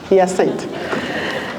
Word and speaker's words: Yacinthe: It's and then it's Saint. Yacinthe.